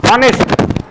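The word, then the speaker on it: honest: অনেস্ট, আমরা কি হনেস্ট বলি না অনেস্ট বলি, হনেস্ট বলি না অনেস্ট বলি, বুঝতেছো আমার কথা, আমরা কি বলি, অনেস্ট।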